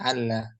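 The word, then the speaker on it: ألا: tidak dibaca an ya betul Alla cara bacanya Alla nunnya enggak dibaca tapi tetap ada hukumnya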